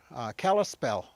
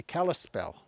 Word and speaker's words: Kalispel: What they called themselves was Clispe, and that became mispronounced to be Kalispel.